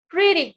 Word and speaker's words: pretty: are you pode ser pretty good ou pretty good. Pretty good. Repita. Pretty good. Pretty good. Pretty good. Pretty good. Yes, você tem que pronunciar o Y com som de I.